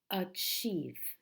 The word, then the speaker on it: achieve: the first word is achieve achieve how many syllables in this word uh cheese and the stress in this word the strong syllable is the second of chief of chief